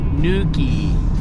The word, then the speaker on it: Newquay: If you say it right, it kind of sounds like Newquay, like Newquay. So if you yelled it, you could say Newquay. It almost sounded like you were saying nuking.